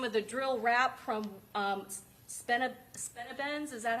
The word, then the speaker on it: Spinabenz: Heard some of the drill rap from Spinabenz, is that how you say it?